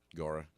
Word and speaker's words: Gaura: the way, is spelled Gaura. Right. Gara. Gara. Yeah. Gara.